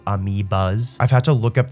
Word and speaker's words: amiibo: I just called them amiios by accident, but they're actually called amiias.